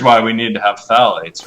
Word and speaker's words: phthalates: But phthalates are literally just as problematic as BPA, and that's spelled PHTHALATES, phthalates.